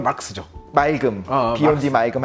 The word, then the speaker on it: 마르크스: 정확한 발음은 막스죠.